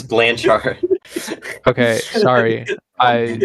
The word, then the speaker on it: Blanchard: Wait, Blankard? Do you What? mean Blanchard? Blankardist, yeah. Is his name pronounced Blanchard? Yes, it's Blanchard.